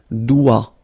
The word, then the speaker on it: doigt: Okay, so don't be frightened by this G because basically you don't pronounce it and then the final T you don't pronounce it. So the only thing you get to pronounce